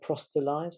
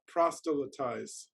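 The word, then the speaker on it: proselytize: to um i think what's the word prostitulize is it is it prostallised i think demetrius can pronounce it better than me go on demetrius prosthetise prosthetise thank you so we don't have to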